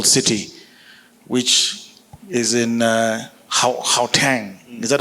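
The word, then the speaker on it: Gauteng: So I will start with uh Willie Vosor um Waterfall City which is in uh Haang is that how to pronounce it?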